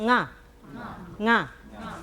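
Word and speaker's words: ང: 모양을 한번 더 그려보면, 혀가 이렇게 입천장이랑 가운데까지 닿았다가 이렇게 뒤에서 떨어지죠. 예, 이렇게 다시 한번 nga. 예, 이렇게 발음해 주시면 되는데, nga자는 달리 이렇게 연상할 방법이 없어서 요 입 모양이 발음이 어렵죠. 발음이 어렵기 때문에 입 모양을 연상하시면서 잘 주의해서 발음해야 되기 때문에 입 모양을 연상하시면서 nga라고 외워주시면 되겠습니다. nga.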